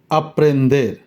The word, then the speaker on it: aprender: aprender, aprender। এর উচ্চারণ স্প্যানিশে হয় আ, এর উচ্চারণ হয় এর মতো, তাই এটার উচ্চারণটা হবে এরকম aprender, aprender।